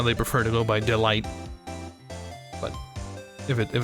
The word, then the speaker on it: Delight: I say delete delete well if it is French it is delete Delight would be if it was because the the E is silence so it's delete delete the E is like unless it has this accent here it's not pronounced at the end like 90% of the time